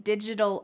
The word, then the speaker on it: digital: I typically spend my weekends learning digital art. Notice the pronunciation of this. Digital. That t changes to a d in American English.